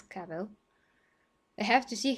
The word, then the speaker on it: Cavill: cavill um i mean some people do say cavill but i'm i'm sure it's kavel i have to see